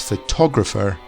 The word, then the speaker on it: photographer: in the middle and finally photograph photograph these stresses at the start whereas photographer the emphasis moves to the middle photograph photographer emphasis and